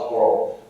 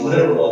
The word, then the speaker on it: literal: And I always remind everyone, the geography major is not littoral. So if you're saying it wrong. It's literal.